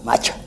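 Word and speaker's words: matxa: Una errancia, porque en vasco la palabra mata no se escribe así. Se escribe M-A-T-X-A, macha.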